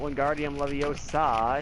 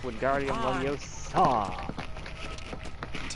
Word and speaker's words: Wingardium Leviosa: Yeah, it's not Wingardium Leviosa, it's Wingardium Leviosa.